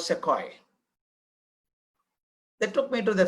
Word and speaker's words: Sequoia: Local people call Sukhoi, but it's called Sequoia.